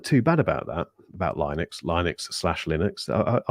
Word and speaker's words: Linux: with that operating system I don't actually know which one is the right pronunciate pronunciation I think it's Linux isn't it Rob was it like I used to always call it Linux um it is Linux um interesting point on